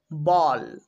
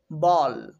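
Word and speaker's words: ball: তো নিয়মটা হচ্ছে বি এ এর পরে যদি এল এল থাকে, সেই এল এল দিয়ে যদি ওয়ার্ডটি শেষ হয়ে যায় তাহলেই কিন্তু আমরা বি এ এর উচ্চারণ করব ব। যেমন বল, বল।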